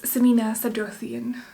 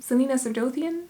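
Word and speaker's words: Celaena Sardothien: and then for miss samina sadothian that was such a weird pronunciation selena sardothien yes selena i don't know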